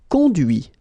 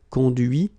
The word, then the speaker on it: conduit: Okay, so you can notice that even if I put this final T, so as usual, I don't pronounce it. Okay, conduit, construit, cuit, détruit, instruit.